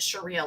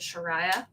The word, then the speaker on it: sharia: states with old testament sharia law fun fact the first time i said that word out loud i pronounced it shariah like shania shariah twain uh and yes sharia